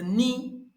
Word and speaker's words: N: but in Yoruba language, we do not call it N. We call it ni. Go and watch my previous videos where I taught you how to pronounce all the Yoruba language alphabets. So in the English language, we pronounce it as N, but in the Yoruba language, we pronounce it as ni.